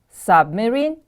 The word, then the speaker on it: submarine: can operate underwater submarine submarine the stress is on the first syllable repeat after me please